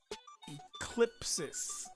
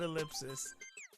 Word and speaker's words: Eclipsis: And it is Eclipsis, not ellipsis.